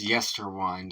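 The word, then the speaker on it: Yesterwynde: forest of Y so it's Yer wind I wasn't sure how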